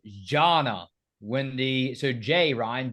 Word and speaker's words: Jana: you youve Angel guys you're always calling her Jana but I think her name is actually pronounced Janna when the so Jay